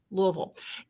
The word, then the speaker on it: Louisville: Well, It's actually like you're saying three syllables in one. Louisville.